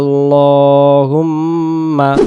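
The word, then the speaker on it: اللهم: এজন্য আমরা পড়বো সুবহানাকা আল্লাহুম্মা আসসালামু আলাইকুম ওয়া রাহমাতুল্লাহ।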